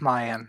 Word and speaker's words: Mayan: Well, first of all, I want to say thank you guys for coming out, especially Mayan, or however you pronounce it. It is Mayan, yes.